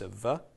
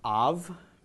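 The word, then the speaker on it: אָב: So the Aleph is silent, the comets makes an ah, the Beit with no dagish makes a v, so this is pronounced av, Aleph Beit, av, and av means father.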